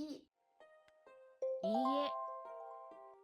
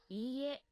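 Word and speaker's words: いいえ: In EA, the two E characters together create a long E vowel. EA Tanaka dewa arimasen. いいえ。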